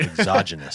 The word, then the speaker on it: exogenous: oh yeah, exogenous. Exogenous? Exogenous. I was right. I just wasn't Yes. pronouncing it right. Exogenous.